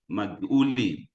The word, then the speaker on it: Maguli: Tafazo, the name of this person, particularly his second name, is very difficult to pronounce, but it's Maguli. Maguli.